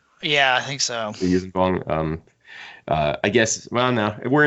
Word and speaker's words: Yuuzhan Vong: How do you pronounce it? Yuuzhan Vong? Yeah, I think so. The Yuuzhan Vong.